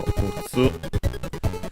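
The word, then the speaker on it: 六つ: So mutsu with mu, double consonant tsu, should be accented on the last syllable.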